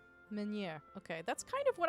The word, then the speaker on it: Meunière: Meunière. Meunière.